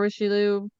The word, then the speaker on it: Richelieu: Yes, Richelieu. Richelieu. Richelieu is what I Richelieu. usually call it. No, Richelieu. Apparently, I'm wrong. It's not rich, it's riche, I believe.